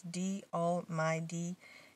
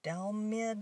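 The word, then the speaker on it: DALLMYD: Oh, DL, at first I didn't know how to say it, the name of his channel. It's D All My D. And for a long time I was like, Dalmid, or I didn't get how, until somebody said it on his channel. I was like, oh my gosh, that's how you say it.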